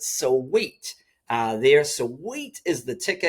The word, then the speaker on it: Sui: I'm going to pronounce it sweet.